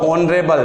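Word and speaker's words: honourable: एन ही आना है, क्योंकि ऑनरेबल का जब आप प्रोनाउंसिएशन करते हो तो ये भी ओ के समान आएगा। तो वो संज्ञाएं जो प्रारंभ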